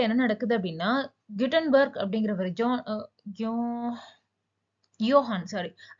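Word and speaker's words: Johannes: Okay, so 1450ல என்ன நடக்குது அப்படின்னா குட்டன்பர்க் அப்படிங்கிறவர் யோஹான், சாரி, ஜெர்மன்ல வந்து ஜே வந்து யோன்னு ப்ரொனவுன்ஸ் பண்ணுவாங்க. சில நேரம் நமக்கு இது பெரிய கன்ஃபியூஷனா இருக்குங்க. யோஹான்ஸ் குட்டன்பர்க் அப்படிங்கிறவரு என்ன பண்றாரு அப்படின்னா பிரிண்டிங் பிரஸ் அப்படிங்கிற ஒரு விஷயத்த 1450ல இன்வென்ட் பண்றாரு.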